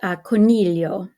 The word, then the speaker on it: coniglio: Okay, coniglio. Coniglio, see the GLI. Again, the GLI is like the double L in million.